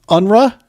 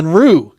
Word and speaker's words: Unruh: sir hey good afternoon guys so help me pronounce the last name unra is that right it's it's close I've been called uh many things uh the correct pronunciation is unre R unru got it German for unruly but I'm I'm